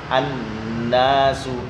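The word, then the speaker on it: الناس: Ya, kesalahan yang pertama itu ketika membaca yauma yakunun nasu, an-nasu, nunnya bertasydid. Ini dibaca tidak dengung dan juga dibaca cepat. Yauma yakunun nasu kal, ini enggak boleh. Ini yang sering terjadi. Ya, harus ditekan yakunun nasu.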